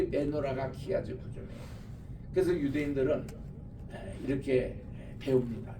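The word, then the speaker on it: chiasm: 그럴 때 이제 여기에 있는 것을 크이라고 읽어요. 그러니까 요거를 이즘이라고 붙이면은 키아즘이라고 읽습니다. 키아즘.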